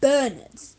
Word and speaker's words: St. Bernard: Bernards, pronounced Bernard, emphasis on Bernard.